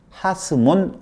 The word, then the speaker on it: 하스몬: 처음으로 왕으로 인정받은 시몬 앞에 더, 정관사 더가 붙어서, 정관사 더는 영어에서는 더지만 히브리어에서는 하라고 그래요. 그래서 하시몬, 하스몬 왕조다, 이런 의미예요. 시몬의 왕조, 하시몬, 하스몬, 이렇게 지금 발음이 되어진 거예요.